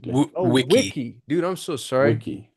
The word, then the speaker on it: wiki: As you were describing the is it bicki? How do you spell that? Vicki. Just like a Wikipedia basically. Wiki. Wiki.